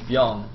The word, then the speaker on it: Bbyong: no, somebody told me it's just Byong. You don't pronounce the other B. It's just like for an accent.